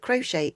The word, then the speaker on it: crochet: the O is missing, but crochet, we've got the CH is sound of a sh, and we've got a silent T.